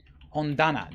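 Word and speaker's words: 本棚: So if I just look up the dana, it is tana.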